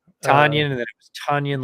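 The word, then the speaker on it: Tonyan: the Tanyan, Robert Tanyan? Tanyan, and then it was Tunyon, like Tunyon, Funyun, and then the right.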